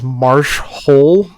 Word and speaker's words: Marsh Hole: This is Marsh Hole, pronounced with the emphasis on the hole, of course.